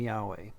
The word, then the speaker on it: Yahweh: now that when you see lord always just pronounce the name yahweh it just makes the reading of the text much better and more accurate because now words like or verses like psalm 23 1 will say yahweh is my shepherd i shall not want that's